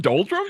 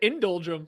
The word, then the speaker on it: doldrum: I'm pretty sure that Ken said indulgrum. Like he added an extra syllable to the beginning of that.